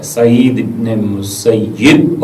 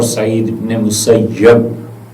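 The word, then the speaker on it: سعید بن المسیب: یہ دونوں طرح سے پڑھا گیا ہے، سعید ابن مسیب اور سعید ابن مسیب، دونوں تلفظ اس کے درست ہیں.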